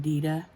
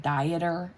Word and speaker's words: Dieter: his name is dieter but we call him dida that's just how because that's how he pronounces it so that's how we pronounce it